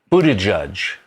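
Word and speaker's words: Buttigieg: is it about pete buddha judge in our scripts it's spelled buddha judge just you can pronounce it correctly yeah um there there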